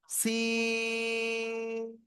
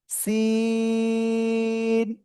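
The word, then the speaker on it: سين: সিন। সিন একই জায়গায় জিহ্বার agar সামনে নিচের এই যে দুই দাঁতের পেটও আগের সাথে লাগাবেন, লাগিয়ে 4 আলিফ টেনে উচ্চারণ করতে হবে। সিন সিন, সবাই একসাথে জোরে জোরে বলেন সিন।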